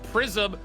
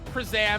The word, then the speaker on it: Prism: We're finally getting the understanding that it's Prism, not Prizam or Prizam or whatever it happens to be.